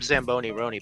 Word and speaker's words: Zamboni Roni: Oh, and I'm Zamboni Roni, by the way. My name rhymes with macaroni, so Easy to remember.